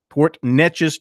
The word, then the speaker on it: Port Neches: b ort niches in eche is yes sir Port Neches Texas commits to South Carolina according to stuff